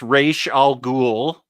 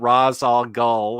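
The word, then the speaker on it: Ra's al Ghul: And I learned how to pronounce Raish Al Ghul. It wasn't Raz Al Ghul or whatever I used to think.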